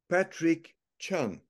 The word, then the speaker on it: Patrick Chun: uh dear Earth mates we are visiting Patrick Chung is this the correct pronunciation of your name absolutely correct yes wonderful